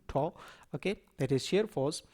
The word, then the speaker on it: tau: Okay, T, here it is tau, can be pronounced as TU, tau.